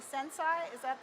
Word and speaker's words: Sensei: could tell us a little bit about Adobe sense I am i pronouncing it right sensei yeah that's serious like